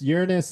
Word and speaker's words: Uranus: Well, it depends on who's talking. Yeah, that it's uh you know, Uranus. Uranus is the is the way that most people say it.